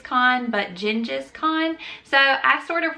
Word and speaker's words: Genghis: I ended up going with Gengis because some of the historian podcasts that I like to listen to, that's how they said it would actually translate. Not Genghis Khan, but Gengis Khan.